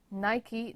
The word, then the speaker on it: Nike: So as you can see, Nike, now we all know how to pronounce it correctly as well, because it's Nike, it's not Nike. Because Nike was the Greek goddess of victory, and you can see